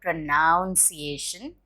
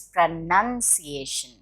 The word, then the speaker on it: pronunciation: lingerie lingerie are women's undergarments pronouncing no it's not pronunciation it's pronunciation none like the none pronunciation poem no it's